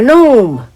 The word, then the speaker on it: gnome: the way i'm a gnome say it with me no it's spelled g n o m e but don't ask me why the g is silent because i have no idea oh don't shuffle your